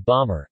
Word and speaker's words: Baltimore: the latter for instance Baltimore is pronounced Baltimore or even Ballmer and Maryland becomes Merlin